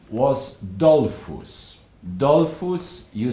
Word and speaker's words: Dollfuss: of the Austrian government the man's name was Dolphus dole foods you spell it capital D o L F you as